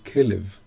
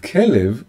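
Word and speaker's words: כלב: So this is, the little dots are the ways to pronounce the three letters. And the three letters remain the same, but we can read them in another way. We can read them as kelev.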